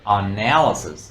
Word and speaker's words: analysis: and now on now and stress is on the second syllable analysis analysis analysis analysis and noun